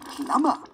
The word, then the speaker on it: plumber: limbering up my limbs plummer is spelt with a silent b but this is because